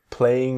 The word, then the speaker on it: playing: His parents found him playing in the garden. His parents found him playing in the gardens. The G in playing often disappears.